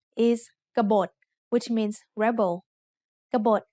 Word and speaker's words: กบฏ: กบฏ has two syllables. Just like the word ขนม which we have learned in lesson 14, there is an unwritten สระอะ after the first consonant กอไก่ and there is an unwritten สระโอ between บอใบไม้ and ตอปะตัก. Both syllables have middle class initial consonants and both syllables have dead endings, so they are both low tone.